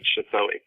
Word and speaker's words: Suthoi: But that's why there's the vowel marking over the A in Tomanak and the O in Suthoi. Ah, those aren't just affectations. That's how you say it.